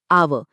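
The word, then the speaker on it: hour: आवर, क्योंकि पहली आवाज आ की है जो एक स्वर है, इसीलिए यहाँ एन लगता है।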